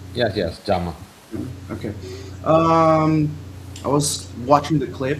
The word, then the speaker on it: Giamma: Is that the correct way to pronounce her name? Yes, yes, Giamma.